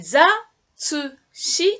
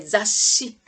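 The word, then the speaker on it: 雑誌: Alors zasshi, ça s'écrit sa plus dakten et petit tsu et shi. Alors petit tsu, ça fait raccourcir la prononciation. Et za, tsu, shi, tsu en petit et zasshi. Ce n'est pas zatsu shi, c'est zasshi. Mais bon, là, on va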